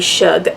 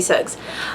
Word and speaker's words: Suggs: baby sug baby sug I kept wanting to say baby Shug um maybe his baby should sucks it is baby Suggs um anyway there's there's